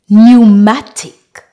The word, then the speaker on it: pneumatic: of the words are silent are pseudonym pneumonia pneumatic pneumology rule number two when we have p